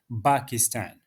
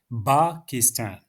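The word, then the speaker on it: باكستان: So some of the Arab countries they cannot pronounce the letter P and they would say Pakistan.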